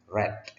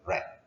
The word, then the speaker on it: read: Oke, nonton TV dan membaca, ini kalau past tense bacanya read, ya, bukan read tapi read, my favorite novels.